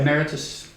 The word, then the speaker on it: emeritus: It sounds like amorous when you say it that way. Will you pronounce it the proper way? Emeritus.